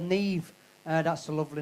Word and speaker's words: Niamh: Now, Neve is spelled Niamh.